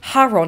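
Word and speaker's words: Charon: to go and meet Caron or Caron or Haron it really depends on how you say it I say Karen but I think the Greeks would have said Haron it would have been a silent k sound like night but I'm going to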